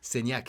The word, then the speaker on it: Saignac: how do you say your last name again Sak Sak coach Sak who of course you